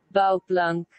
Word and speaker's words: Bouwplank: Pelafalannya begini. Bouwplank. Nah, Bouwplank. Bouwplank.